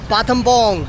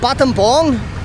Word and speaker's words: Battambang: I'm in a place in rural Cambodia called Battambang. I originally thought it was called Battambang because how it is spelt, but it's Battambang.